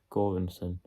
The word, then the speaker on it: Göransson: But yeah, Ludwig Göransson, I believe it's pronounced, did lots of the score and the background music for this film.